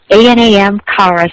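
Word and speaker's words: Anam Cara: with meditation techniques and i wasn't correctly pronouncing this it's anam anam kara c-a-r-a anam kara wisdom spiritual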